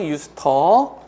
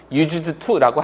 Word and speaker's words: used to: 비동사가 없는 상태에서 그냥 유스터 이렇게 쓰면 지금 발음도 들어 보시면 used to라고 하지 않잖아. 그 유스터 유스터라고 하잖아. 실제로 사전 찾아보시면 요거 한 단어로 나와요. 유스터가 한 단어처럼 사용되는 거거든요. 그래서 유스터라고 발음도 합니다.